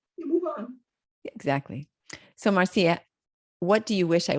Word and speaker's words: Marcia: Most Americans say Marcia. Yeah. But I'm from the Caribbean and say Marcia.